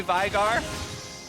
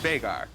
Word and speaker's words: Veigar: It's an Icelandic name, and it's actually pronounced Veigar. You hear a lot of people say Veigar, but I know the actual human. Okay. I lived with him, and it's pronounced Veigar.